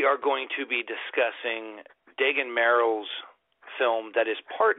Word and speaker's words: Dagen: Is that how you pronounce it? Is it Dagen? Dagen? Dagen, like dragon without Dagen.